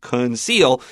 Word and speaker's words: conceal: up your pencil and make sure that first C is a K and your second C is an S.